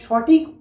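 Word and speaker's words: ثاء: সামনের দুই দাঁতের গোড়ার সাথে লেগে, এইখানে। তা তা। সা। সা উচ্চারণ হয় এই জিভের আগা এবং সামনের উপরের দুই দাঁতের আগার সাথে লেগে, এই যে সা সা সা।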